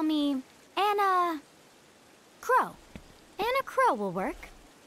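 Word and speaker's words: Enna Kros: just answer my question you can call me anna crow and a crow will work that's not how i would have pronounced that so i'm glad they said it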